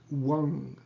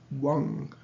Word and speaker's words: Wang: And the bija mantra is Wang. The V is pronounced like a W, Wang. And the M is, once again, is the Ung sound, M diacritical mark, is Wang.